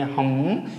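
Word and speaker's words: hymn: तो इस कंडीशन में हम एन को प्रोनाउंसिएट नहीं करेंगे।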